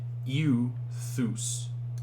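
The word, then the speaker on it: εὐθύς: we have the uh epsilon upsilon which is the eu noise feud so this would be pronounced like u thus you throw right means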